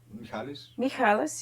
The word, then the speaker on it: Michalis: Michalis, yeah.